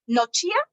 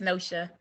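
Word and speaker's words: Nohia: say your name wrong no chia did I say they're on her at all it's close enough it's nosha no show okay n-o-h-i-a hey y'all um the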